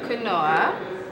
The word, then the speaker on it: quinoa: So a little bit of spinach on there, a little quinoa.